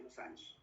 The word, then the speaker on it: losange: dice losange o sea se escribe losange se escribe Así se pronuncia losange en un ojito Ahí